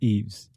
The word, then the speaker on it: Eves: And I didn't pronounce the S on Eves, but it's Eves.